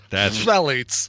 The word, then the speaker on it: Phthalates: Phthalates. PHTH. Phthalates.